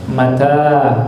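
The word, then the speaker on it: متى: Mata, bacanya manya pendek, taknya panjang.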